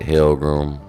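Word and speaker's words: Holmgren: Alexander you got um Chad hram that's how you properly say his name and jayen Williams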